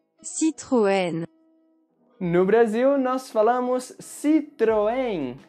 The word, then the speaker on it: Citroën: No Brasil, nós falamos Citroën, Citroën. E palavras que terminam com as letras N ou M em português vão ter esse som nasal.